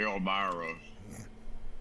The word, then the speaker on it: Elmira: And Joe was, you're from the Elmira area up there in New York, and it's that rhymes with Elvira, you know.